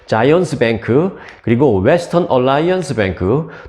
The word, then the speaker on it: Zions: 뱅크 이것을 비롯해서 자이언스 이제 한국에서는 시온이라고 발음을 하죠 근데 이제 영어로 하면 이제 자이언스입니다 저는 자이언스라고 발음을 할게요네 자이언스 뱅크 그리고 웨스턴 얼라이언스 뱅크